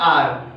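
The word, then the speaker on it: hour: इसको पढ़ने में ही कई लोग गलती करते हैं, सब इसको हावर पढ़ते हैं, जबकि इसका सही प्रोनाउंसिएशन होता है आर, और यह भी अ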